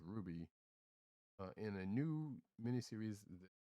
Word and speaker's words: RWBY: justice league and uh rwby which i believe is pronounced ruby uh in a new